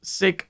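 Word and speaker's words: Seq: might have heard of SE before I've heard people pronounce it as sck as well I don't really know how you pronounce it I think it's SE and SE is actually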